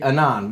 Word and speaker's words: Avon: It's on the main tributary of the Spey River, Annan. called the Annan, which is spelled Avon. But What? AVON. AVON. What? How is it But- on? Silent V. True. Oh, Silent V.